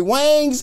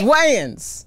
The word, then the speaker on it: Wayans: Wangs in the Wangs. Am I saying it right? It's Wayans. Wayans?